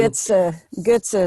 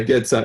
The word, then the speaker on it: Goetze: I try to use the American and a bit of Spanish pronunciation. Goetze is okay. Yeah, Goetze, I prefer the Goetze from the origin, but I understand the American Goetze, it's okay as well.